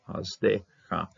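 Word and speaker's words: חַסְדְּךָ: This one's going to have dagishking, pronounced Shava, Hasdecha.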